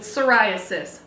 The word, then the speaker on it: psoriasis: P is for pterodactyl. Ptolemy, the psychic pterodactyl, struggles with psoriasis. That was a lot of silent P's.